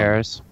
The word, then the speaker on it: Jaehaerys: Jaehaerys. Jaehaerys. There's an S at the end.